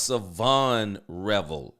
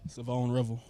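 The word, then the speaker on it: Shavon Revel: Now I think his name I thought it was Savon Revel Jr. but let's see what he pronounces his name as. We want no problems with coaches at all. So just tell us how do we say your name? Savone Rebel. Savone Rebel. Okay.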